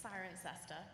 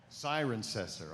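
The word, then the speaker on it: Cirencester: do you pronounce that it's siren cester siren cester okay um so I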